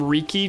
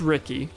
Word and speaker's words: Riki: Ricky is, sometimes they call him Riki just because of how it's spelled, R-I-K-I. It's Ricky. They all say Ricky, but I say Riki half the time.